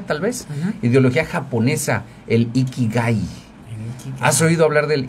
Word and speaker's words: ikigai: has oído hablar del ikigai Bueno mira el ikigai Eh bueno así tal cual con letra k de kilo y las I son latinas no iki gai este G de gato Eh bueno se dice